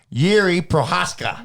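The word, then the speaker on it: Jiří Procházka: Anyways, speaking about Pesci saying it, Yuri Prohaska.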